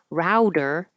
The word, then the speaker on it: router: Router, like as in router and modem, is always an ow, and the T changes to a D.